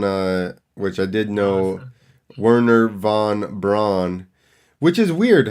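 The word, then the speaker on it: Wernher von Braun: which I did know Werner Von Braun which is weird how is it Werner Vaughn when the first one starts spelled with a V also so it should be Werner Juan Braun not right some German stuff so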